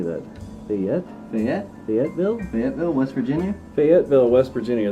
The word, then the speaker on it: Fayetteville: Fayetteville, West Virginia.